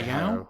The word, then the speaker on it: Hayao: I would say Hayao. I think it's spelled Hayao.